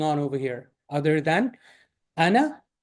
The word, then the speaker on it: أنا: This alif with the zero should not be pronounced. So instead of ana, this is ana, just like we did last time. If you look at that video, that I had it right. Ana, it does not pronounce like this. It's pronounced ana, just very quickly. Okay, just two short syllables.